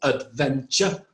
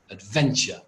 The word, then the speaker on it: adventure: You see the stress, it has three syllables, adventure. And actually it's got two schwas, one on the first syllable and one on the last syllable. Why? Because the stress is on the second syllable, adventure.